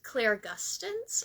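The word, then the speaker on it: clairgustance: So, let's go to the next one, which is Claire Gustins, and I'll spell it C L A I R G U S T A N C E.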